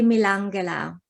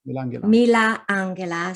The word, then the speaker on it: Milangela: How do I pronounce in it? Slovenian? That would be Milangela. Milangela.